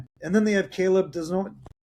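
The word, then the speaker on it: Desnoyers: And then they have Caleb Desnoy. I can never say his name right. Denoy. Yeah, Denoy.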